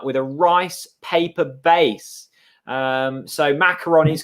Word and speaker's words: macaron: here um simon so simon educating us it's french from bordeaux so it's macaron um apparently a macaroon is a coke a coconut with a rice paper base um so macaroni is correct chris well